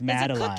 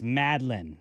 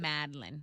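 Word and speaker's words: madeleine: for that what is a mattaline it's not pronounced madaline cookie isn't it it's madlin is the way you're supposed to pronounce that madlin um CRM brulee I've crushed that that's exactly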